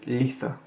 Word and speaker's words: Litha: Donc l'Ita, en anglais moderne, ça se prononce litha. Et le mot duquel est issu est un mot en vieil anglais, qui se prononce litha. Donc on insiste davantage sur le TH, qui ne s'écrivait pas